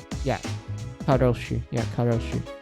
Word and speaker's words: karoshi: Yeah, Karoshi. I don't know why I pronounce it as Ko. It's Karoshi.